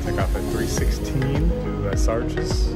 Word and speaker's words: Les Arches: I would take off at 3:16 to Les Arches. That's how you say it. Les Arches. There's no A.